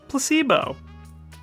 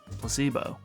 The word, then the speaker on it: placebo: Placebo. The stress is on the middle syllable. Placebo.